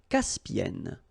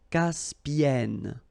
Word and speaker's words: Caspienne: La mer Caspienne. Okay, E and then double consonant here, and it's the same, and N, so it does open the sound here, so it's Caspienne, Caspienne.